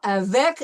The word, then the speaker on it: avec: Okay, so avec, and we know that we pronounce the C in avec.